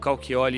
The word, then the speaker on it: Cauchioli: lá É Rodrigo cioli o cioli ele é de origem italiana então ele se escreve com ch cioli tá pessoal Instagram Facebook